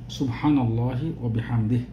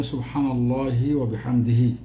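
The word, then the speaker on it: سبحان الله وبحمده: অন্যতম সেটা হল সুবহানাল্লাহ সুবহানাল্লাহি ওয়াবিহামদিহি। এটা আমাদের দেশের উচ্চারণ সুবহানাল্লাহি ওয়াবিহামদিহি। সঠিক উচ্চারণ হল সুবহানাল্লাহি ওয়াবিহামদিহ। এখানে থামতে হবে।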